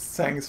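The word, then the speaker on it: Tseng: sang of the Turks I think it's sang I think the T is silent sang of the Turks that's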